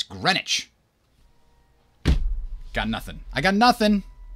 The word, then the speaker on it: Greenwich: And then on the other side of the state, we got Greenwich, which is spelt Greenwich. But it's not Greenwich, it's Greenwich.